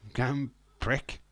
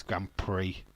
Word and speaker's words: Grand Prix: Grand Prick. No, it's Grand Prix, but it's spelt pricks.